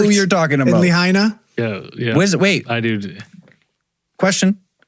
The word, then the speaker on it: Lahaina: Lahaina.